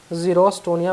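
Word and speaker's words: xerostomia: होता है रोस्टो निया देख लेना आप लोग स्पेलिंग रोस्टो निया बोलते उसको रोस्टो निया एक्स ई आर ओ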